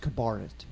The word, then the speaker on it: cabaret: First of all, it's pronounced Cabaret.